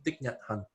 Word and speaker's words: Thich Nhat Hanh: Gimana sih bacanya? Thich Nhat Hanh.